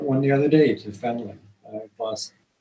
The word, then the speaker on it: fentanyl: I've lost a number of clients to, I just heard about one the other day, to fentanyl. I've lost fentanyl? I'm mispronouncing.